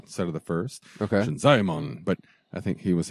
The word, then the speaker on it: Shinzaemon: If there are two vowels in a row, mm-hmm. they're each separate syllables. Like Shinzaemon, it's not Shinzaemon, it's Shinzaemon.